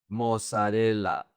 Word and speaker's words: mozzarella: So, people in Spanish pronounce the double Z like an S. "Pizza". "Jacuzzi". "Mozzarella".